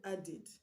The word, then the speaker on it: added: The word added, the last sound of add is D. So the ED that's been added to add to make it past tense is pronounced ED. So it's not added but added.